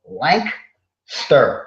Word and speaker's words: Lancaster: pronounced by those people lankster it's like there's no a in the middle lankster right it's like